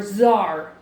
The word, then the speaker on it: czar: C is for czar. Shh. The fascinating czar is secretly part Czech. D is for Djibouti.